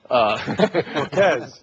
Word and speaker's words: Volquez: I like the Volquez, the second syllable. Volquez.